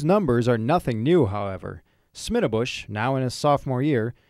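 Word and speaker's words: Schmiedebusch: That would be Smittabush. Difficult to pronounce and even more challenging to spell.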